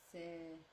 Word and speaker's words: c'est: And it's the same pronunciation also as C apostrophe EST. Almost, kind of. Right, c'est. Almost the same.